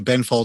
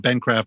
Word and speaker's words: Benfold: Okay, so I think now I may have mispronounced the name of the ship a couple of times along the way. Benfold. If I said Bencraft before, it was a mistake.